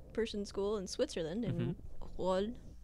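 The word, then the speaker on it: Rolle: Okay, so apparently there is a rich person school in Switzerland in Roll. I'm just gonna pronounce that Frenchly because I don't really know Switzerland Roll.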